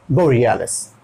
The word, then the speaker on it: borealis: साथ में होगा अरोरा बोरियालिस, अरोरा बोरियालिस, आपका प्रोनाउंसिएशन थोड़ा सा बेहतर होना चाहिए, ठीक है? तो ये हो गया बोरियालिस, बोरियालिस, यहाँ पे देखिए डबल ई है, टालना पड़ेगा, बोरियालिस Arora बोरियालिस Arora बोरियालिस।